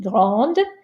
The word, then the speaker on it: grande: Notice I pronounce the D because of the E, grande.